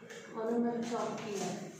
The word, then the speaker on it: onomatopoeia: How is it pronounced? Onomatopoeia. Last name will not be a whole A. Oh, Priya, are you here? Yes. We'll have a very soft sound at the end.